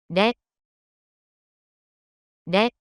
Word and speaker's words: れ: れ、れ、 The pronunciation of character le in Japanese is something like the combination of REH in English.